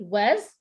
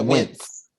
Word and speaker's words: Wentz: was giving me very Fall Out Boy Pete West. Was that how you say his name? Yeah, Wentz.